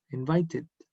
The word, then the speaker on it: invited: Elegimos id porque dice la regla que si un verbo termina en el sonido D o sonido T, como invite, la ed se pronuncia id, invited.